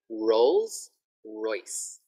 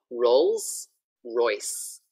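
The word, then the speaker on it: Rolls-Royce: Try to get the S sound as well. Rolls.Royce. Rolls Royce. Okay, lovely. Good job. Thank you. Yeah, that S sound is very difficult in Thai as well.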